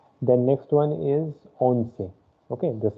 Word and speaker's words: once: which you say in english it will be onsei se okay i have told earlier also that